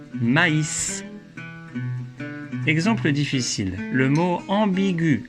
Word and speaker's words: maïs: Mais avec un tréma sur le I, on prononce AI, comme dans maïs.